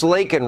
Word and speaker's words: Laken: say her name Joe it's not Lincoln it's Laken Riley nor have we heard